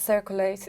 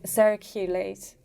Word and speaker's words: circulate: It's not circulate, it's circulate.